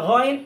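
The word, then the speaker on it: غين: খ এটা মোটা আবার গইন এটাও মোটা একই স্থান থেকে এগুলা খুব খেয়াল করবো আমরা যেমন খ আর এটার নাম হচ্ছে গাইন তিন আলিফ টানবো গাইন এরপরে হচ্ছে কি ফা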